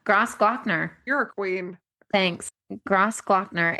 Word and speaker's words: Grossglockner: It's called Gross, Gro- Grossglockner. Yeah, Glockner. Yeah, Grossglockner. you're a queen. Thanks. Grossglockner. It's spelled interestingly in like this is how it's spelled in English, but in it, yeah, anyway.